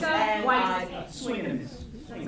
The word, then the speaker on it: Waititi: Here is a clip that gives you a sense of that balance and pronounce this name one more time. Waititi. Emphasis is on the Y.